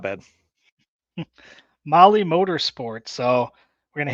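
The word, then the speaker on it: Mahle: of our podcast listeners Molly is spelled m- ahle e all right tell tell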